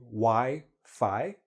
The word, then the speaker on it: Wi-Fi: make sure we understand i know in some countries they pronounce it a little bit differently in english we say why phi okay and this is